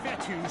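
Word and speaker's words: Fetu: him down so coach fettu spelled f-e-t-u for the longest time i was pronouncing a coach feta like feta cheese so let's just say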